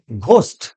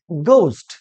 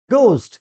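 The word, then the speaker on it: ghost: অনেকে বলি ঘোস্ট। কি বলে? ঘোস্ট না, সঠিক উচ্চারণ হবে গোস্ট। কি হবে? গোস্ট।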